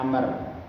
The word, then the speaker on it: Amr: an Abdillah B Umar radhiallahu anhuma tadi Ahsan bacanya Amr Bagaimana Ikhwan kita membedakan antara Umar sama Amr